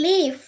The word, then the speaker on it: live: Ojo, se dice I live. I live. No se dice I live porque cuando me envían el video, la mayoría dicen I. I life, no es I live in la ciudad en la que ustedes vivan.